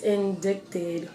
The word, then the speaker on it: indict: When a woman is indicted for indicted in oh god, okay.